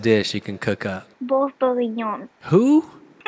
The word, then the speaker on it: bœuf bourguignon: Bourguignon. That was wrong. Can you pronounce it? Bœuf bourguignon.